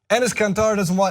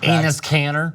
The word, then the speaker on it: Enes Kanter: Enes Kanter does not buy Kevin Durant's apology.